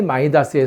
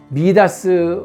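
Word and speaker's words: Midas: 그 선 증권과 의 마이다스의 손이다 부동산의 마이더스의 손이라 이런 말 하잖아요 & 영어식 발음 이거 원래 발음은 및 아스 네 바로 그 미다스 왕이 디오니소스의 스승을 대접하고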